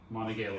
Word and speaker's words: Monongahela: We're in Monongahela River. That's how I pronounce it.